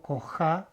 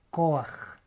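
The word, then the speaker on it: כֹּחַ: Acá hay un sonido de A, pero yo no digo coja, digo coaj. Coaj.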